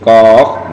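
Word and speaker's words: ق: Jadi ko itu dibagi 3 ya. Ada qaf, ada alif, dan fa mati ya, fa sukun. Jadi qaf gitu ya. Jadi bacanya panjang dulu 6 harokat, 3 alif.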